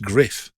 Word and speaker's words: Gruff: gu sorry g r u double f is pronounced griff you've been saying gruff all these years would describe your voice in